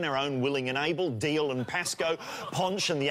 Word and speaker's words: Dalziel: Yeah, Deal and Pascoe. Isn't it Dalziel and... No, that's it's a Scottish thing. It's spelt Dalziel but pronounced Deal.